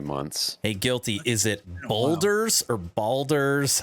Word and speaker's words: Baldur's Gate: Hey, Guilty, is it Boulders or Baldur's? How do you pronounce it? Baldur's Gate.